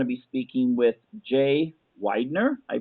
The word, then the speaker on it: Weidner: And tonight we're going to be speaking with Jay Weidner. I pronounced that right, correct?